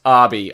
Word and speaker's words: Obi: Yeah, and it is pronounced Arby. I said it in the Saw 2 video, but it's not Obi like everyone says, because literally Xavier says, "What the fuck's an Obi?"